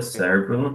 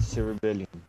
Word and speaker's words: cerebellum: cerebellum has two parts.